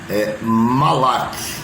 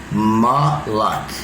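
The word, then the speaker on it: מלאך: O vocábulo anjo, como aparece nas versões correntes, vem da raiz hebraica, que em hebraico o nome pronuncia Malak, amém? Malak, né? Ele é escrito em grego, não é escrito Malak, né? É uma outra palavra, mas se lê Malak, que no grego da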